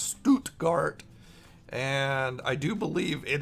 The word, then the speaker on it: Stuttgart: It's in I think it's pronounced Stuttgart.